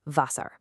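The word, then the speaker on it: Wasser: Meanwhile, the W sounds like a V. So vasar or water is vasar.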